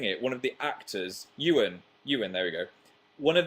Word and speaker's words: Ewan: I thought it was like Iwan or something.